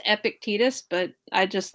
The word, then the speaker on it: Epictetus: epic titties titties that are epic actually it's pronounced Epictetus but I just like saying epic titties because